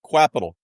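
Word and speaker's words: Qapital: clever marketing cpal but Capital it's I I actually had to figure out it's actually pronounced Capital but we can call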